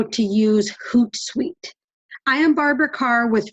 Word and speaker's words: Hootsuite: walk step-by-step through the HootSuite dashboard HootSuite is spelled as you can see on my screen right now h oo t s UI t e hoot like an owl and then sweet so today I'm going